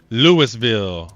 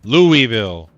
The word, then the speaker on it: Louisville: Lewisville. Louisville. It's Louisville. It's all all almost one syllable.